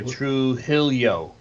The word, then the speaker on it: Trujillo: look chelsea ray chulo trujillo true true true hello because j's are pronounced like h and double l is pronounced by y so true hillio she's accused of putting